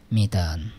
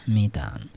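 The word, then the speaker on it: mitään: এইখানে দেখেন এই যে ডাবল ভাওয়েল আছে, তার মানে উচ্চারণটাও একটু, স্ট্রেসটাও একটু ডাবল হবে, মিতান, হ্যাঁ, মিতান মানে এই সেমিতান, হ্যাঁ।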